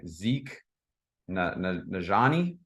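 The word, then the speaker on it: Zeke Nnaji: So, like, I don't know if you guys have seen, but there's this guy, Zeke Najani, if I'm not mistaken. Yep, that's exactly how you say it.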